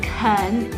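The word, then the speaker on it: 啃: words first one khan to pronounce khan is like to pronounce barbie's boyfriend ken but lower so can became cut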